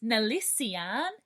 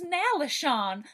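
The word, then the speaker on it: Nalesean: I thought I knew how to pronounce Nalisian, but then I realized it was Nalishon.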